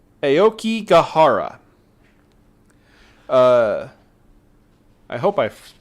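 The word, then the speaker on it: Aokigahara: try really hard not to butcher this name Aoki gahara uh I hope I pronounced that correctly you got it right Aoki gahara Aoki gahara um which has many many horrible names uh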